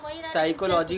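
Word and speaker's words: psychology: तो यहाँ पर ये जो है साइकोलॉजी होगा, है ना, यहाँ पी साइलेंट रहता है।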